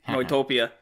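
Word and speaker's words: Neutopia: called no Autopia well I'm pronouncing it like I would German Noi Noi topia that's propaganda got it cuz any you know I in German is new mmm Tokyo oh yeah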